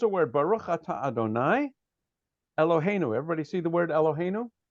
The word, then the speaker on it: Eloheinu: So you might think that we should be saying Eloheinu, because quite often the last syllable is accented.